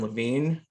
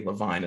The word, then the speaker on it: Levine: officer that is Levine and am I pronouncing your last name correctly um I think it might be LaVine and I just screwed it up but nope you were correct okay someone else pronounced